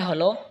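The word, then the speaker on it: ح: হা হলকের মধ্যখান হয়তো উচ্চারণ হবে হা।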